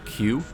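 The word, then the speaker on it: 九: speakers out loud remember how the number nine in Japanese is pronounced Q well that sound is of course nearly identical to the letter of the alphabet in both versions the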